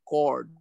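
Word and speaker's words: chord: ও কেন্দ্রিক বৃত্ত এবি একটা জ্যা বৃত্ত এবি এবি হচ্ছে বৃত্তটার জ্যা জ্যা এর ইংরেজি কি সেচরড চরড নয় উচ্চারণটা হবে করড সি এইচ ও আরডি ঠিক আছে আচ্ছা আচ্ছা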